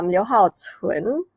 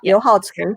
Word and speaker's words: Liu Haocun: Liu Haocun, that's how you pronounce it. Yeah, Liu Haocun.